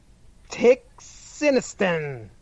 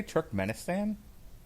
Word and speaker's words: Turkmenistan: part of the world tick sinistan tick sinistan are you trying to say turkmenistan no i am there